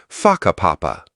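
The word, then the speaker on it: Whakapapa: You'll hear locals casually talking about places like Waka Papa, pronounced Faka Papa.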